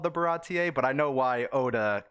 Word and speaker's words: Baratie: rob right rob and kyle i said uh barody they corrected me they said it's baratier so that is what we're on today and